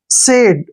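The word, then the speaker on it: said: ए सफल अब देखिए एस ए आई डी एस को क्या पढ़ते हैं हम स ए आई को ए पढ़ना है और डी को ड सेड सेड क्या होता है कहा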